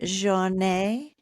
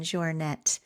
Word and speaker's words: Jornet: Anyways, I want to say Killian Joure, but I think proper pronunciation is Killian Jouret, the goat really of